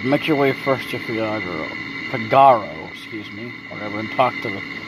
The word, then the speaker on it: Figaro: Make your way first to Figaro, whatever, and talk to the king. That's how you say it, Figaro, not Figaro.